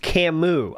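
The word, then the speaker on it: Camus: Also, it's pronounced Camu."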